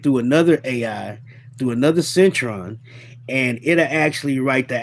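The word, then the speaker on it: Syntron: No, Cron is spelled S Y N T R O N. Centron.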